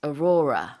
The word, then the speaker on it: aurora: Alright, so in Korean we say aurora, but in Yes. English it's aurora. That's right. Aurora, the emphasis is on the second syllable.